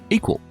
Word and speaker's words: EQL: That's EQL, pronounced equal.